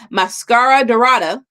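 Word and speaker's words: Máscara Dorada: Mascara Dorado.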